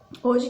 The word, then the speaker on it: hoje: apenas com quatro fonemas a mesma coisa acontece com palavrinha hoje hoje nós temos quatro letras é isso mas na hora da nossa pronúncia hoje a gente vai ter apenas três sonhos porque o h se foi aí vai não é considerado como né porque não tem o som na hora da nossa